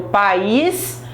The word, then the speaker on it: país: não tem o acento então por exemplo país o meu país Brasil é um hiato e os meus pais pais é ditongo não separa não tem acento raízes we ficar sozinho